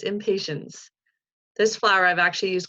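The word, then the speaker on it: impatiens: did it right, because we kind of say it like we're not being patient, but the opposite. That's right, it's the impatience. I always want to say impatience, but it's impatience.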